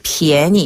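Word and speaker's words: 便宜: 한국식으로 따지자면 편의지만 중국식으로 따지자면 이제 便宜 이렇게 발음하게 되고요.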